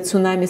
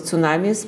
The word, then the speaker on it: tsunami: So the tsunami is a Japanese word that has two syllables. Tsu is harbor and nami is wave.